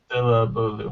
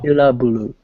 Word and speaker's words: syllable: Syllabulu. syllable. Yeah. うん。 Okay. So Sounds it's weird. supposed to be syllable, which has 3 syllables. うん。 But if you say syllabalu, then it has 4 syllables, right?